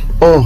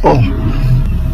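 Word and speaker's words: אור: pas comme vous voyez en hébreu c'est or hein c'est comme l'or que vous voyez là on prononce or voilà c'est la concordance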